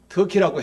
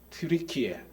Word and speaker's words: 튀르키예: 터키는 영어식 발음이라서 조금 경홀한 이야기입니다. 예. 터키라는 말은 미국에서 추수감사절에 잡아먹는 그게 뭐죠? 우리말로 칠면조. 그걸 터키라고 합니다. 그래서 이 터키아 정부에서 유엔에다가 우리나라 국호를 바꿔달라 해서 용감한 나라 트리키에 이렇게 바꿨습니다.